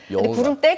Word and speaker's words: 구름대: 이거 무슨 때로 려다 구름떼가 아니고 구름 대입니다 요거는 구름대 같아 보여요 름 같다 보 발음이 구름대 구름대 하다 보니까 그렇게 들리는데 구름대 예 어떤 구간대